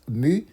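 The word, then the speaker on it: μ: Cette lettre, on la prononce mu, c'est la moyenne de x, de notre variable aléatoire.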